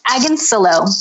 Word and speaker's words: Agonillo: It's Agonillo. Rhymes with pillow.